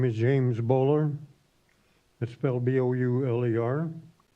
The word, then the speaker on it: Bowler: us so thank you okay next is James Bulger the rate payer James a bo you le are that's you okay I must have butchered your last name please pronounce it my name is James bowler misspelled Bo you ill er I live in